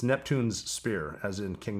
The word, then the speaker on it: Neptune's Spear: is commonly mispronounced it's neptune's spear as in king neptune's spear natural state people say neptune spear but that's you know it's the two s's in a row yeah what do you